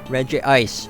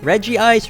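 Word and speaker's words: Regice: with the legendary Pokemon Reggie ice Reggie ice red rice however you want to pronounce it this Pokemon has a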